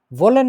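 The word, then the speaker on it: wollen: ব্যাপার আছে আর কি যেটা হচ্ছে ভি এর মত উচ্চারণ হয় কিছুটা এইজন্য ভোলেন মানে হচ্ছে কোন কিছু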